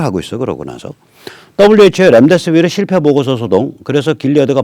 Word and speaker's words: 렘데시비르: 조선사회면에서 코로나 유력 치료제 렘데시비르. 이거 미국 약이죠. 저희가 몇 번 얘기했습니다. 일단 렘데시비르 I가 아니라 어입니다. 임상실험 실패. 렘이라는 이게 E자이기 때문에 E자는 어이로 발음해야죠. I 발음이 나올 수 없습니다.